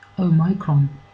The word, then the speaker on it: omicron: In fact, perhaps it should be pronounced omicron, because it has the word micron in it, which suggests something that is very little.